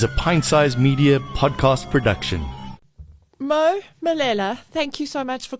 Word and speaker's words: Malele: Malele, thank you so much for coming Malele. in. Malele, sorry, There we go.